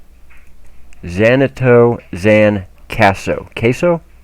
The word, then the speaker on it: Kaso: Let me be sure I pronounce this right. Xanato Xan Kaso. Kaso? Kaso.